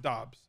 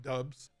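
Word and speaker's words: Doubs: romeo dobbs it's pronounced dobbs i hate it i lost so much joke equity with his name not being like dubs and being dobbs it is what it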